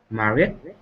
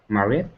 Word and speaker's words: married: Married. Good. Again? Married. Okay, now I almost couldn't hear the D at the end of it.